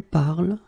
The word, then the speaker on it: parles: it je parle, tu parles, il parle, elle parle. So it does mean that even if you write them differently, E, ES, and then ENT, you will pronounce them the same way.